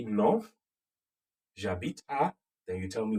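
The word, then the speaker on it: j'habite: in a place okay jabit jabit and then yes very good the j apostrophe is coming because h is a vowel in french so you have j instead of j e okay j apostrophe j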